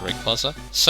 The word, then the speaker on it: Rayquaza: there's like 2 pronunciations. Rayquaza's the correct one, but Rayquaza sounds less weird, so personal preference basically.